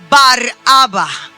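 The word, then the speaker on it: Barabba: Nosotros lo conocemos como Barrabá. Esa es la pronunciación conforme a nuestra traducción bíblica, Barrabas. Pero el nombre original es Baraba.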